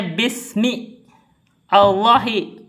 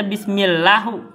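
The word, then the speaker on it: بسم الله: Jadi bacanya bismi Allah enggak bisa dibaca bismillahu.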